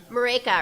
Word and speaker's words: Marika: I have a question here for Diana and Marika. Is that how you pronounce it? Marika, it rhymes with Jamaica.